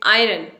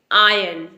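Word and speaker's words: iron: कपड़े स्त्री करते हैं आयरन नो इसे हम बोलेंगे आयन आयन यहां पर आर है लेकिन आर यहां पर साइलेंट है आर को प्रोनाउंस नहीं करना है इसे बोलेंगे आयन आयन जो पर्सन हमारी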